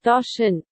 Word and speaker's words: Doshin: How the hell do you pronounce that? Doshin.